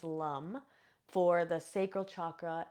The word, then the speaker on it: Lam: So the seed sound for the root chakra is lum. It's spelled Lam.